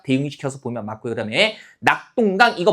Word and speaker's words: 낙동강: 자, 지금이 똥은 발음하는 과정에서 나타난 된 소리이기 때문에 방금 봤던 규정에 따르면 발음하는 과정에서 나타난 된 소리는 표기에 반영하지 않는다는 거죠.